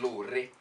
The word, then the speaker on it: Lore: Alright, so and Authentic are in the building. Can I help you there? It's Lore. Okay, let's go with that. It's better than law.